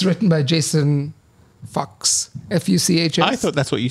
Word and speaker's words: Fuchs: Fuchs, not Fox.